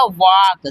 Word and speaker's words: walk: तो यहाँ पर यल को क्या करेंगे? नहीं पढ़ेंगे, वो साइलेंट हो जाएगा ना। तो ये हमारा क्या हो जाएगा? वॉक।